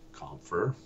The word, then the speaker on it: Compher: Jessie Compher. Exactly phonetically as you expect it would to sound or to spell.